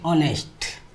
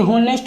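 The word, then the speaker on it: honest: ऑनेस्ट। अब यहां पर है एन N. Okay. Apple. Orange ऑनेस्ट ना कि होनेस्ट होता है।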